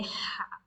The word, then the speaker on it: ح: Put your 4 fingers of your hand and press your throat and say ha, ha. So that's the sound of ha in Arabic. And it is not very similar with the English ha, h.